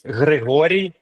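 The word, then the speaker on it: Hryhoriy: So it's in Ukrainian, it's Grigory Baklanov.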